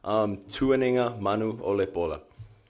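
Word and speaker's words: Tuanigamanuolepola: Tuaninga Manu Olepola.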